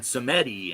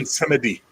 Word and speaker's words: Samedi: Samedi. okay, Baron Samedi. And that's if you're saying it like Creole, right? If you're saying it in pure French, it'd be Baron Samedi.